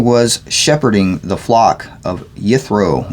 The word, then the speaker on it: Yithro: And Moshe was shepherding the flock of Yithro, or Jethro as it would probably be pronounced, because the Y is always replaced with a J in English for some reason.